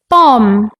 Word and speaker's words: bomb: teachers in the class silent letters are letters that are written but not pronounced like the letter B in bomb Klim lamb some like